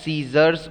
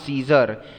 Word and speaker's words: scissors: time nice and scissors i told you this is to be pronounced as scissors only not caesar as scissors has the